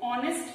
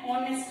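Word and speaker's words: honest: नेक्स्ट है ऑनेस्ट मैन, अब यहां पे आप ध्यान देना जो एच है एच इज साइलेंट, ठीक है एच साइलेंट है, सो यहां पे हम है ऑनेस्ट मैन, तो साउंड है ओ की और ओ है हमारा वॉवल, सो हमने यूज किया एन।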